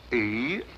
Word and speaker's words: Eros: A slight confusion on the lady's part. Probably the influence of Cockney stagehands. She added an H where there shouldn't have been one. What? Then spell it as she spelled it, but without the H.